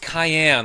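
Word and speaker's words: Cyan: Yeah, science name is supposed to be pronounced cayenne, like cayenne pepper.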